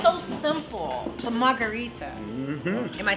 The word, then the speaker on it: margherita: The Margarita.